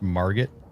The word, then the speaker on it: Margit: It's pronounced Margit.